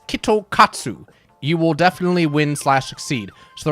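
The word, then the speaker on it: キットカット: In Japanese, you can pronounce Kit Kat as Kitokatsu.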